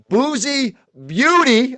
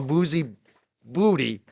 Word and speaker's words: Boozy Beauty: And my boy Dixie, John Como, and Boozy Beauty. I said it right this time. Sometimes I used to call her Boozy Booty.